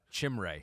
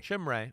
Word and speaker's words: Chimere: Chimere? Is that how you say it? Chimere Chimere, okay.